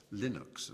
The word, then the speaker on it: Linux: It was known as Linux, or Linux, as some people pronounce it.